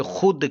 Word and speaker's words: خود: اسے ملفوظ کہتے ہیں۔ غیر ملفوظ وہ حرف جو پڑھنے میں نہ آئے، فقط لکھنے میں آئے، جیسے خود کی واو، اسے غیر ملفوظ یا